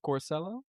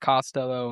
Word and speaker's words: Corsello: I've heard it pronounced Costello.